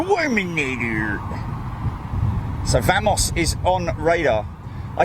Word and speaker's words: Wamos: me near you so vamos is on radar I say I call it vamos even though it's got a W at the front of it I think the pronunciation